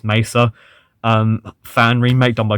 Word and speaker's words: Mesa: like um half-life has the black messer i'm not pronouncing that correctly it's mesa um fan remake done